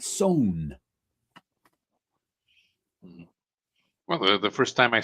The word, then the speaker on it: Sewn: Sewn, not sewn. Well, the first time I saw it was when I was still in language school. This is pronounced soon, but it's not. Sewn, SONE. There we go.